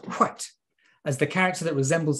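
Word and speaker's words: Hwæt: ae ligature and t you can see it's pronounced white as the character that resembles a p is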